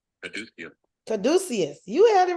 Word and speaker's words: caduceus: Pronunciation. Caduceus. Caduceus. You had it right, Rev. Caduceus.